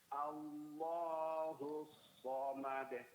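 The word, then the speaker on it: الله الصمد: Allah somad pada huruf shad tasdidnya itu baru dijelaskan. Allahus somad.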